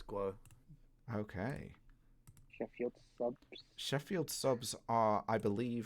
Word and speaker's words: Guo: i pronouncing it right is it guo was it g o uh it's guo okay sheffield sheffield subs